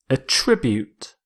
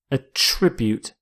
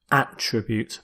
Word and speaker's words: attribute: your first word is a tribute a tribute it's a verb so with this verb you stress the second syllable it also works as a noun where you stress the first attribute but here as a